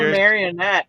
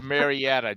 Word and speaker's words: Marietta: oh you're talking about marionette Georgia yeah no Marietta Georgia I didn't understand you when you pronounced that way it's Marietta Georgia uh her mother his